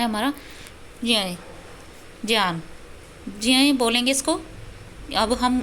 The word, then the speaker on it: ज्ञान: लेकिन ज्ञान, इसको अगर शुद्ध उच्चारण की हम बात करें तो ज्ञान बोला जाएगा इसको, ठीक है।